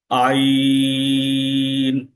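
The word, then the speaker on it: عين: তো এই উচ্চারণটা আমি আবার একটু করছি। আইন আইন শক্ত করে কিন্তু যেন কষ্ট না হয়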